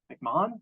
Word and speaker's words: McMahan: I'm very pleased to welcome Professor McMahan. I'm told that that's the British pronunciation as opposed to the less faithful American pronunciation.